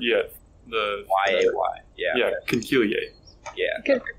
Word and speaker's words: conchiglie: I thought it was conchile. It's conchiglia. Conchiglie. Yeah, conchiglie. Google has its, what's the word? Yeah, the... Y-A-Y. Yeah. Yeah, conchiglie.